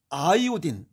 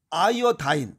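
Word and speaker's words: iodine: 관한 이야기 정리하도록 하겠습니다 요드 아이오딘 아이어 다인 다 같은 얘기입니다 드는 독일식 발음이고 아오는 영국식 발음이고 이고 아이어 다이는 이건 미국식 발음입니다 다 똑같습니다 요거는 1811년 바닷마을 연구하던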